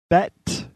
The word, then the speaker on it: Bette: Bette Midler. How do you not know who that is? All right. The E is silent.